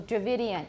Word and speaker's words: Dravidian: to remember if you remember that way so Dravidian it's not related to the indo-european languages in